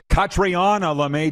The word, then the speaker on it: Catriona: hour 2, Catriona Doan, Catriona Doan, I now know. I feel like such a dork. I've interviewed her so many times and been at so many events with her. I know. Saying her name wrong like everybody does.